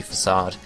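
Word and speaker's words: façade: effective are hyperbeam return facade facade faade however you want to pronounce it it's actually facade um Etc um gig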